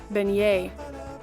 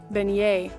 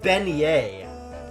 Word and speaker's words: beignet: How do I pronounce Beijet? Beignet. Wow, that was a ride. Beignet. Benignet.